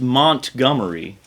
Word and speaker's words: Montgomery: am originally born and raised in it is pronounced montgomery so okay so it's you've got a show